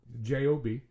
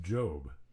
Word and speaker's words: Job: Okay, so this is about Captain Joe Sorry, Job Barbour. Ever heard of him? Captain Job? J O B. Okay. Um I would thought it would be pronounced Job.